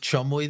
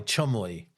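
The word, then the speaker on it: Cholmondeley: one for me is is the one that's pronounced chumly. That but that's spelled with like 18 letters. Oh, yes. C H O L M O N D L E Y. Chumley.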